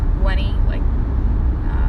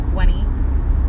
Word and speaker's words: Gwenny: For those who are wondering how you pronounce the channel name, it's Gwenny. Add an extra N and a Y to Gwen, so it's Gwenny.